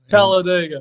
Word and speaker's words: Talladega: dead and and so do you know the proper way to say this, Ken? Talladeigga. Talladega. Everybody calls it digger. Digger. Digger.